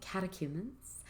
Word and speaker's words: catechumens: they use chrism oil catechumens much like the word catechism if you want to think about how to pronounce that and spell it catechumens oil and oil